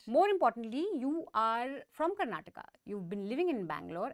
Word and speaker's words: Karnataka: out of the way it's Karnataka it's kannada Canada and it's kinetiga so the a is very important and I think just to start things up uh when we talk about Karnataka elections we talk about